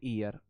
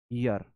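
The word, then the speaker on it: year: आएगा 11th में एन ईयर अ ईयर आ ईयर आएगा आएगा एन ईयर नहीं आएगा। हम इसको गलत प्रोनाउंस करते हैं। इसे य प्रोनाउंस किया जाता है। य यर य प्रोनाउंस किया जाता है।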